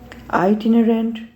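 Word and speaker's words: itinerant: local people मुकामी लोग आइट इनरेंट खानाबदोश इसको प्रोनाउंस करेंगे आइट इनरेंट ठीक है आईटी रेंट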